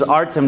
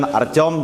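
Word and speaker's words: Артём: Anyway, as mentioned, my name is Artem, in Russian, Artyom, and Finnish people couldn't spell or pronounce Artyom, so I changed my name to Artem, so that's how it is.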